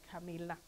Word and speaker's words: Camilla: is Lizbeth twin sister Camilla and I'm pronouncing it the Swedish way Camilla a soundless great pleasure